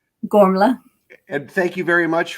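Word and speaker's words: Gormflaith: talk about warm faith can you help me pronounce it correctly gormla and thank you very much for uh providing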